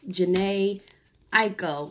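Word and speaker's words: Jhené Aiko: So yesterday I posted a video with Jhene, Aiko.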